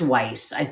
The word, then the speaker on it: Weiss: It is like ice. Am I saying it wrong? Ice, Weiss, Weiss? Is it Weiss? It's Weiss.